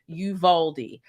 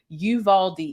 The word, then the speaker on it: Uvalde: at the title right it's called uvalde texas it's pronounced yuvaldi i looked at it